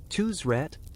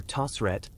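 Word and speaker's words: Tausret: Next up, Tusret or Tosset, depending on your pronunciation flavor.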